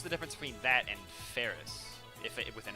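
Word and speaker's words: Faris: Her name rhymes with Paris? Ferris, okay.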